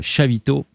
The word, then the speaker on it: Xavito: Je vais évidemment remercier tout le monde, Joey, Hercule et Chavito, qui s'écrit Xavito, mais c'est catalan, donc on prononce à peu près comme je l'ai dit. Enfin, c'est pas tout à fait pareil.